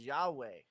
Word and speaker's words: Yahweh: or Jehovah right well if you just say it right what does it sound like it sounds like you're breathing like yeah you know what I mean like you're literally inhale exhale and so that's what it